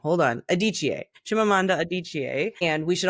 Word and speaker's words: Adichie: Well, we're talking today about Chimamanda, and I just looked up how to pronounce her last name. Hold on. Adichie.